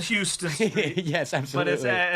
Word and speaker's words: Houston Street: But in New York, you also have NoHo and you have Soho, but that refers to Houston Street. Houston Street.